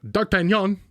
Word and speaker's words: D'Artagnan: D'Artagnan. That's how you say it in French.